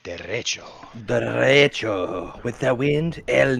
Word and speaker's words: derecho: It's actually a Spanish twist. It's derecho. No, you gotta say it like derecho.